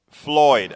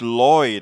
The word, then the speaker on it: Floyd: show and for George Floyd I didn't realize I was saying George Lloyd I'm so glad you corrected me Kalitta yeah so did